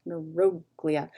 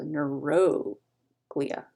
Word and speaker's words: neuroglia: okay usually i mean clearly it's the word neuro and then glia but usually but not always in science the third from last syllable is emphasize so neuroglia because glee is a syllable and uh is a syllable so nero glia usually but not always and